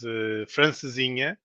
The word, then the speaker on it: francesinha: How do you pronounce it? no, it's a traditional meal from the Porto area, which is francesinha, which is Francesinha, basically yes.